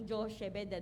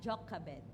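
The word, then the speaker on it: Jochebed: pino-pronounce natin siyang Josh bed ano pero na-research ko ang pronunciation pala niya ay Jokabed ayan so Exodus 2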